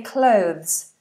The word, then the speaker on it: clothes: it I can't say clothes I saw your lesson but it's still weird o so this is the o sound as well in this word clothes clothes but you have